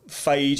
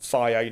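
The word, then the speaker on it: Fage: low fat 0% total phage, even though they tell you it's pronounced faye, no, it's phage, come on, it's F-A-G-E.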